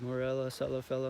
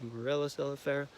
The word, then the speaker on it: Morella cerifera: compulsive and be like, Morella celifella, Morella celifella, Morella celifella, Morella celifella, Morella celifella, Morella celifella, Morella celifella, Morella celifera. See, I said it wrong.